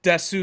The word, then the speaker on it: DESU: how they wrote it the pronunciation is the same because it's set in a Japanese Way which is des Wow looks like they